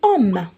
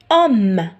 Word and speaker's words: homme: كيما عندي homme. Est-ce que نسمع le H هنا؟ homme. Non, je le prononce pas.